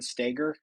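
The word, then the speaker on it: Stoeger: s o g r Ben stagger is I believe how you pronounce it and he he kind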